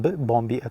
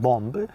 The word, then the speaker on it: bomb: So usually usually speaking when M is followed by B the B becomes silent.